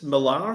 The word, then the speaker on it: Millar: of like how pretentious marar sounds you I kind of like it you know but that's not the real way is Miller the real way is